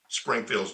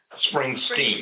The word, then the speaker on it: Springsteen: Springfield's did along the way. Yeah. Springsteen, excuse me, guys.